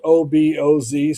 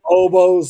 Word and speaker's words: Oboz: It's spelled OBOZ. So I don't know if it's oboes like the sales lady said or oboz, but they're out of Montana